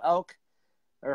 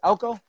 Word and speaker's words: Elko: elk obviously you know elk or herd of elk Elko I'm pronouncing elk oh yes I know well